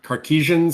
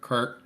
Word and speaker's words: Kardashev: Not the Cartesian scale or Kardashev scale? Kardashev scale. Yeah, we love the idea of the Kardashev scale.